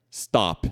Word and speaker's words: stop: Ok mas por exemplo quando vira essa palavra aqui de parar Stop aí ele não ganha essa essa explosão zinha de ar assim que só stop né porque ele não tá começando mais a sílaba é o s que começa agora OK então eh eh